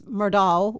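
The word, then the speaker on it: Murdaugh: the name murdock is m-u-r-d-o-u-g-h yeah but it's pronounced doc murdock because we had a big meeting in the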